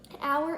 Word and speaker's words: hour: this is think about the word our hour is spelled H silent H oh you are H